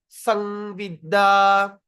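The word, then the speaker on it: संविदा: When you see the M with the dot on top, we pronounce like NG, the word NG, All right, but no, we don't say N, the that means that you pronounce the word M from your nose.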